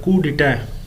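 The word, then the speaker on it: coup d'état: अच्छा ये वर्ड आपने देखा है ये बेसिकली होता है कुडिट। ये फ्रेंच वर्ड है यानी फ्रांस ओरिजिन है इसकी। ठीक है? फ्रेंच लैंग्वेज का और यह कु पढ़ा जाता है। यह स्पेलिंग तो इसमें इसमें पी आता है लेकिन यह कु पढ़ा जाता है। कु और डिटे यानी के इस तरह से डे ट जो इसका लास्ट वाला है वो प्रोनंसिएशन में नहीं आता।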